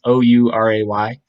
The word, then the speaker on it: Ouray: And so they were semi fortunate to stumble on the encampment of Chief Uray, known as I'm not sure if it's in Montrose. I don't know if I'm pronouncing that. It's Ouray.